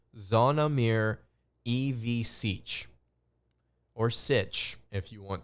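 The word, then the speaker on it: Zvonimir Ivišić: Monday afternoon I want to talk about zonomir evasich and in case you're wondering his name is pronounced zonamir EV Siege or sich if you want to if you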